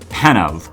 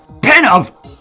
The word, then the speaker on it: Penove: musician of these mods, Penove, who I kept pronouncing as Penove. That, I feel stupid for not realizing that E was silent.